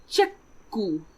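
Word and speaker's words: チェック: So if we have the English word check, in Japanese we will pronounce it as chekku.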